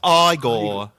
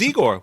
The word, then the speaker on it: Igor: No, no, it's pronounced Igor. And they told me it was Egor.